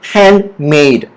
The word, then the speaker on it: handmade: All right, so the first word will be handmade. All right, say it with me. Handmade. The stress is on made right here.